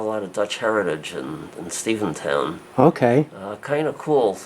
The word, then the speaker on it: Stephentown: towns of Stephen Town it is Stephen town Steven town uh name for Stephen Van Rensselaer who owns a good